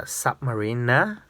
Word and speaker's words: Submariner: I actually have 6 sub homage, or basically it's a Submariner NER, not NA, but my pronunciation might sound like NA, but I did read it Marina.